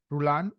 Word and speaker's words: Rullan: today I'm excited to talk to Dr rulan am I pronouncing your last name correctly yes perfect uh